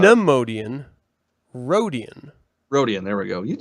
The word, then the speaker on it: Rodian: That's Rodane. Rodane? I never pronounce Aren't it. That's they not called an Rodian? That's not an Neimoidian. No, that's like not Neimoidian. Rodian.